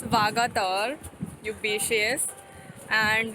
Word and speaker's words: Vagator: Miss Candolim is talking about mispronouncing Vagator. It's Vagator.